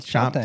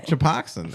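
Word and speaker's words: Choptank: Chop tank. Chop tank river. How'd you get koxin out? Choxin, isn't it?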